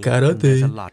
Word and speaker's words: карате: На самом деле это произносится как карате.